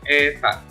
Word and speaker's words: eta: Dengan keterangan R menyatakan jari-jari dalam satuan meter, simbol dari viskositas dibacanya eta.